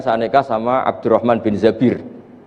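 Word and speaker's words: الزبير: Kemudian saya nikah sama Abdurrahman bin Zabir. Di hadis ini bukan bacanya bukan Zubair tapi Zabir.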